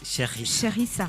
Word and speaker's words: Sherissa: Yes nuko ni Sherissa, bavuga Sherissa cyangwa Sherissa? Sherissa. Il faut prononcer.